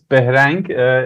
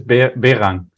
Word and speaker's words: Behrang: My name is Behrang in Persian, but everybody in Germany says Behrang, or Behrang in English. So it's Behrang.